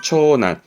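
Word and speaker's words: 長男: 발음은 초난. 이때는 난갑니다. 초난.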